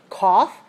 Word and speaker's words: cough: a word and you might make the mistake of saying cough and tough rhyme but they don't because all all for cough and I for tough so the spelling is